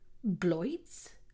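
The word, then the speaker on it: Blitzø: It's uh it's Blitz, I guess. The O is silent. Blitz.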